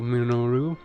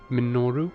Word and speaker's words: Minoru: Minoru. Minoru. Minoru. Minoru is hard to say fast. Minoru. Minoru. Why can't I say it like normal? Like why does it have to be three syllables and weird?